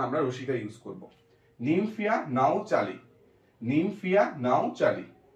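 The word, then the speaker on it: Nymphaea: এরপরে নিমফিয়া, নিম নিম ফিয়া PHAEA, এখানে কিন্তু এই এটা সাইলেন্ট থাকছে, নিমফিয়া নাও চালি, অনেকে কালি বলে বাট নট কালি, শুনতে অড লাগে, চালি নাও চালি।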